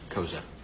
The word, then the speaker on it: Koza: I'm Koza. Spelled with a SCA, but pronounced like a Z.